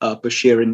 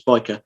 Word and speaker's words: Bichir: So the SH in that word gets turned to a CH. So the pronunciation became Bichir in the French spelling. There's a bit of an argument, I suppose, or more of a technicality, really, that when the name becomes Latinized, you stick with the Latin pronunciation, which would mean the CH becomes a K, so it's biker.